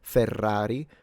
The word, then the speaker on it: Ferrari: The only difference perhaps is in double Rs and double trills that we do have like in Ferrari where clearly the first trill is stronger than the second.